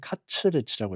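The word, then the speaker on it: カツレツ: 그래서 다시 아까 이어가면은 여기는 카츠레츠라고 했잖아요. 카츠레츠. 이게 커틀릿. 영어 커틀릿에 이제 일본식 발음인데 발음이 안 돼 가지고 했어요.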